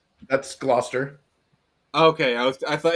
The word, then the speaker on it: Gloucester: uh all right let me um Leo lemonster glauer I was trying to like that's Gloucester okay I was I thought it looks got